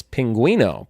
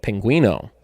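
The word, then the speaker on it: pingüino: how do you say penguin in Spanish it's Pinguino p ing you I and O Pinguino and the bonus for two points name any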